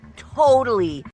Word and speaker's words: totally: often pronounce it totally with the second T pronounced as a fast d totally totally that's because the